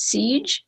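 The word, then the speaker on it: Sige: silence her name is siege it's s-i-g-e although the c the g is silent and according to my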